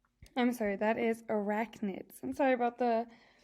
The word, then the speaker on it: arachnids: spiders belong to a group of animals called eric chins i'm sorry that is arachnids i'm sorry about the mispronunciation but so now i have to look